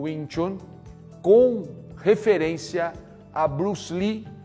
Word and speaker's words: Tsun: Por isso que o patriarca Ip Man e seus discípulos optaram pelo TSUN, não para ser lido como Tsun, mas para ser lido como Chun, né?